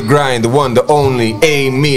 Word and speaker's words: AMI: Ladies and gentlemen, we welcome to The Grind, the one, the only, Amy, it's spelled A-M-I.